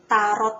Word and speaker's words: tarot: Yang saya pegang ini adalah Archangel Tarot Card Deck. Jadi tarot itu pronunciation yang benar adalah T-nya tidak dibaca ya, tarot.